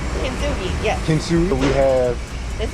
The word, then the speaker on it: Kintsugi: So we're here at, let me make sure I say it right, KINTSUGI? KINTSUGI, yes.